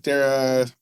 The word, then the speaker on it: Dara: I'm trying to Dana Dara whoever it is their name is not Travis C no was it zorg yeah their name is not zorg so Dara from Uber Dar is how it's pronounced if you've been listening